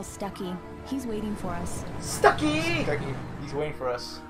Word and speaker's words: Stucky: Stucky. He's waiting for us. Which rhymes with Kentucky?